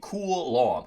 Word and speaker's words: Coulomb: This looks like a llom if I just remove that second syllable. So I look at this picture and think, "Oh man, that is a hip looking llama." Or that is a cool. But that's how you pronounce this word.